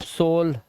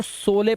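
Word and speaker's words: sole: अब पहले मैं भी सोचता था इसको सोले पढ़े, सोले, सोले, लेकिन फिर पता चला लास्ट का ई साइलेंट होता है, और दो कॉन्सोनेंट के बीच में ओ आया है, लास्ट में ई है, तो इसको ओ से पढ़ेंगे तो सोल हो गया ये।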